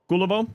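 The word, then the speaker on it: Kullervo: Kulivo.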